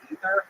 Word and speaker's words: Aether: because I thought that I read god of upper air is actually pronounced ether and I was like I just call it ether instead.